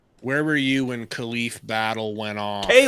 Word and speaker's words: Khalif: Where were you when Khalif Battle went off? Caleiff.